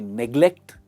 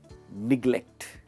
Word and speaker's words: neglect: नेग्लेक्ट। इसकी pronunciation है निग्लेक्ट। निग्लेक्ट एंड नॉट नेग्लेक्ट। नेग्लेक्ट गलत प्रोनाउंसिएशन है, निग्लेक्ट इज the right pronunciation, मतलब लापरवाही।